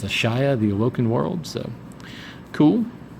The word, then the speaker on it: Ashaya: I was trying to remember how they pronounced it at the Comic-Con panel. And it's Ashaya, the Awoken World.